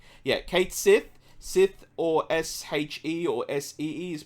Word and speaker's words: Sith: else is mispronouncing yeah Kate Sith Sith or s-h-e or s-e-e is pronounced she in um in Gaelic it basically